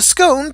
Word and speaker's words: scone: The scone, pronounced scone, is a traditional form of baked bun, with sweet and crumbly texture halfway between bread and cake.